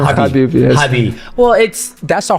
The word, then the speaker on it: Khabib: And I'm like, Khabib, it's Habib. You know, the K is silent.